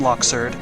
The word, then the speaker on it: Luxord: struggled my way past Luxord. Yes, I call him Luxord. Now I know that they pronounce his name Luxord, but I think Luxord just sounds a lot cooler.